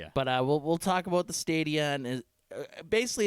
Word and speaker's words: Stadia: believe it's pronounced Stadia.